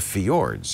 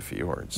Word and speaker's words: fjord: But it's the fjords. You can't knock the fjords. The fjords, I think, is how you pronounce it. Fjord. Yeah, because there's a J in it.